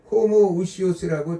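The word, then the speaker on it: homoousios: 호모우시오스라는 단어는 뭐냐면 동일본질이라는 단어입니다. 동일본질. 단어 하나에 뭐가 차이나면 이라는 단어가 하나 더 들어갔어요.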